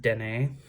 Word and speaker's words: Danae: I don't exactly know how the Celtics would pronounce it, but from what we figured out in my coven, it's pronounced Danae, so it's close to Danny.